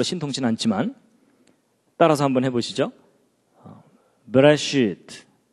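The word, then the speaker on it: בְּרֵאשִׁית: 제가 발음이 별로 신통치 않지만 따라서 한번 해보시죠. 베레시트, 뭐 쉽게 그냥 베레시트, 바라, 엘로힘.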